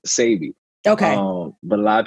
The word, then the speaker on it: Dr. Sebi: Like, what is the correct way to pronounce? Because I heard Sebi, Sebi, Sebi. Which one is correct? It's really Dr. Sebi.